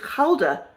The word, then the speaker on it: Gouda: And apparently, if you're Dutch, correct me if I'm wrong, it's Gouda, with a H.